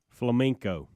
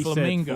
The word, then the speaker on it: flamenco: an easy 7 100 Monday after botching his pronunciation of the word Flamenco Flamenco they said Flamingo Flamingo like the animals I understand guys every